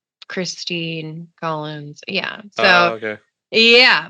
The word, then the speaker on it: Christine: And I'm like, and at the same time, I'm like, okay, say my name. And they're like, it's Christine. I'm like, right, not Kristen. Let's work with the INE sounds, guys.